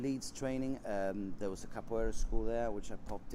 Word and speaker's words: capoeira: So capoeira, is that how you pronounce it?